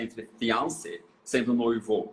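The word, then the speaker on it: fiancé: norte-americana ou estadunidense e ela falou Olha eu não vejo diferença na hora de falar mas também ela é uma palavra que vem do francês então teria diferença de pronúncia entre fiance sendo noivo e noiva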